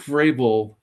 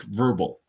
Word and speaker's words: Vrabel: If you're going to announce a winner, make sure you know how to pronounce his name. Oh, boy. Mike Vrabel won the award.